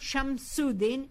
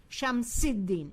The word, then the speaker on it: Shams-i-Din: It's not Shams-ud-Din, it's Shams-i-Din.